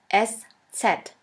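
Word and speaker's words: ß: which looks like this we call it s set s set or sha s sha s which means a sharp s this letter is pronounced like the double s in the word kiss and always remember this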